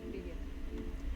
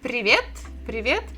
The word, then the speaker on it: Привет: Привет.